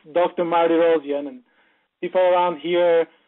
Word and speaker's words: Mardirossian: well yes we get here perfect yeah you pronounce my last name really well it's dr. Marty rhodium and people around here call me doctor am